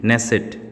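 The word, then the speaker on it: Knesset: নাম কি হচ্ছে দা নেসেট ওকে এর উচ্চারণটা কে এন ই এস এস ই টি নেসেট okay the নেসেট ব্রিটেনের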